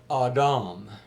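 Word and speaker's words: אדם: But the Hebrew word that is translated man in Genesis 2 is pronounced Adam. If you were to spell that, I guess it would be Awdawm or something along those lines.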